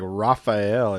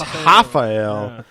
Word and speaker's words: Rafael: it uh it's weird they pronounce their RS like H's so even though it looks like rafhael it's it's hael but then it's Portuguese instead of Spanish so it's dos anos yeah so they go